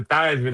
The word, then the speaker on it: Theismann: And I don't know if he related to Joe Theismann or is it Thiesman? Thiesman. I get think the it was Thiesman, but he changed it to Theismann and rhymes with Heisman.